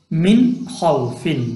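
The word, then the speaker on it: مِنْ خَوْفٍ: Ha is izhar, harf halqi. Yeah, it came after nun sakin, so we should pronounce it without ikhfa and gunna. So we can pronounce it like min khawfin, min khawfin.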